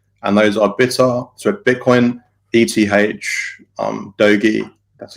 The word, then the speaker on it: Doge: on Twitter cryptos, and those are Bitcoin, ETH, Doge, that's how you pronounce it, and SafeMoon.